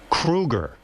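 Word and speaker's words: Kroeger: And Chad, you know, your last name is Kruger. Thank you. I don't know if been you know pronouncing that.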